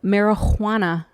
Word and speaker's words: marihuana: there's no j it's actually an h because this is english america and we don't respect people's languages we and we butcher them so it's marijuana marijuana you can't tell the difference between the h and the j but anyway they put